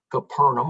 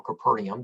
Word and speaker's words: Capernaum: find that he actually moved his residence to capernaum or capernaum depending on on how you pronounce it and uh so this is uh